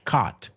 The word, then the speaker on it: cot: Cot. So cot rhymes with bot.